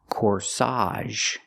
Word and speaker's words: corsage: is called a corsage put the stress on the second syllable corsage again the AG makes the a sound here corsage she's wearing a corsage